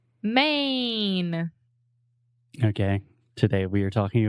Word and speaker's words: Maine: or when we have a word that ends in e in English we don't pronounce the E the E is silent so just main main exactly I don't want